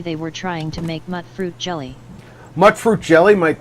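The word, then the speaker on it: Mutfruit: of mut fruit here is it mut fruit or M mute fruit cuz I've heard people say it both ways vaultgirl 145 said mute fruit yeah that's that's why I thought it should be pronounced like vaal girl 145 said stands for mutated fruit I believe Avalanche multi media said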